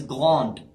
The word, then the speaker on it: grand: The last letter pronounced is A. So we say grand, not grande.